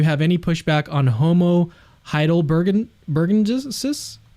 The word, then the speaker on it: heidelbergensis: I'm curious if you have any pushback on Homo heidelbergensis?